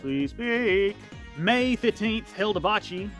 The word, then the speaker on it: Hilda Baci: May 15th, Hilda Baci. I would think that's pronounced Baci, B-A-C-I.